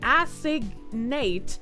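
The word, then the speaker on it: assignate: Phonetically acignate stress on the first syllable assig like in big or signature. Nate rhymes with mate or late.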